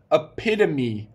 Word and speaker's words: epitome: did in the challenge last week how to pronounce the word epitome epitome now you have to write the word